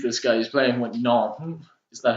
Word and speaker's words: Nantes: He's playing with Nantes. Is that how you pronounce it?